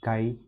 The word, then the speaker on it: chi: What is the term that denotes magnetic susceptibility and how to pronounce it? Yeah, it is indeed chi.